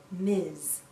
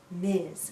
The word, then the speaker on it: Ms.: We pronounce this as Miz. Miz sounds like a Z at the end. Miz.